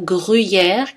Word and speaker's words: gruyère: Deux exceptions notables sont le mot gruyère, qui se prononce en général avec un U plutôt, gruyère, tout comme bruyère.